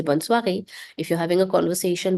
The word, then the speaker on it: soir: The evening, le soir. Another nasal vowel here, S-O-I, which is pronounced as wa. So, le soir.